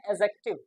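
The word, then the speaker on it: adjective: सी टी आई व लेकिन इसको एडजेक्टिव ना पढ़ कर के इसको पढ़ते हैं एडजेक्टिव इसमें डी साइलेंट होता है एडजेक्टिव एडजेक्टिव का मतलब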